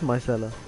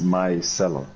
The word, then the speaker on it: micellar: You make it sound like it's two different words. It is micellar. Yeah, but you said like it's my cellar. Oh, Like a cellar. micellar, Yeah. micellar.